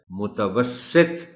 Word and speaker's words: متوسط: متوسط پڑھ جاتے ہیں۔ درست تلفظ اس لفظ کا ہے متوسط، اور تے پر بھی جزم نہیں، جزم کے ساتھ پڑھ جاتے ہیں لوگ، متوسط، متوسط۔ قسم، بہت